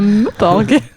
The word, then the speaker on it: MMORPG: Développé par comment ça se prononce? Un Meuporg.